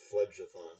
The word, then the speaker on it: Phlegathon: I'm sorry to tell you this, but his name is pronounced Phlegathon. So Oh, That's what I shut said. up. you said you said you said Phlegathon, and it's Phlegjathon.